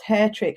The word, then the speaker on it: Hattrick: umlaut over the a that would really actually pronounced hair trick and that's a nod to that the agencies